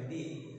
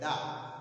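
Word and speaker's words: the: দি এর উচ্চারণ হবে দা। তো আমি তোমাদেরকে একটা সুন্দর সূত্র দিচ্ছি এখানে, দা দি সি, অর্থাৎ কনসোনেন্টের পূর্বে যদি দি বসে তখন দি এর উচ্চারণ হবে দা, আর ভাওয়ালের পূর্বে যদি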